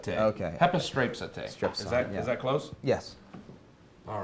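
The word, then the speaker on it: ἐπιστρέψατε: How do you pronounce that word? Hepistrapsete. Okay. Hepistrapsete.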